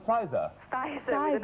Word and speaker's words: Spicer: Spicer with an S. Do you know how to Lovely pronounce name.